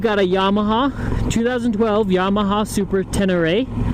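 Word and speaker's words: Super Ténéré: a yamaha 2012 yamaha super 10 array is how you pronounce it i believe most people just call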